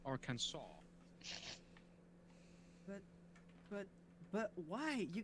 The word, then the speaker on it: Arkansas: Arkansas do you go do you make it a hard s no you just don't who's a hot ass